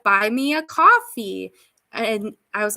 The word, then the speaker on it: Ko-fi: It's coffee apparently. I always pronounce it Ko-Fi because that's what it looks like. If you want me to pronounce it coffee, why'd you put the hyphen?